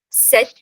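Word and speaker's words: sept: Set. Set. Set. The P is silent here.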